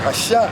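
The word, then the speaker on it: עשו: And they called his name Esau because when he was born, Isaac was like Asha. That's how you say it in Hebrew.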